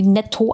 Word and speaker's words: Neto: Und wir haben mit denen vor Ort geredet und die haben halt gesagt, sie wird Neto ausgesprochen. Und das hat sich für viele eher so wie Netto angehört.